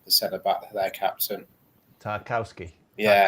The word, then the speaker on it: Tarkowski: And it was a great battle between him and I can't hardly pronounce his name, the centre back, their captain. Tarkowski. Yeah, Tarkowski.